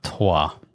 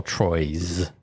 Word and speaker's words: Troyes: So the 3 games are Teotihuacan, which is difficult to say, and Lorenzo Il Magnifico, and Trois, or Troyes, if you want to pronounce it differently and wrong.